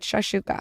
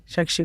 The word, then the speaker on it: shakshuka: Are you saying it wrong? She said maybe you come for brunch. She got it. Shakshuka. I said it right.